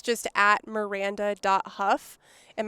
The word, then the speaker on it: Hough: just at miranda dot huff and my name is spelt kind of funky i'm sure you'll probably touch it it actually looks like hogue yeah like i keep